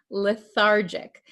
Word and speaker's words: lethargic: pronounce this word lethargic remember this is a j sound lethargic Okay the patient feels